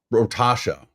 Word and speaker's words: Rotasha: It's pronounced, but with an O. Rotasha.